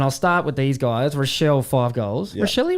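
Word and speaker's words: Rachele: Rashelle, five goals. Rashelli. Rashelle, how do you say? Rashelli.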